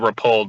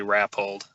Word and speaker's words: Rappold: how's it going yeah it's pulled most people pronounce it were polled but it's actually rap hold it sounds more dignified when you say